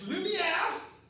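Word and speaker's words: Lumière: problems in 1895 the lumiere brothers premiere their first film and they're french so it is pronounced lumiere like the candle thing and beauty and the beast lumia the lumiere brothers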